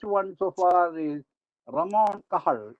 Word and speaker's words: Cajal: The greatest one so far is Ramon Cajal, even though it is spelled as Cajal, it is pronounced as Cajal.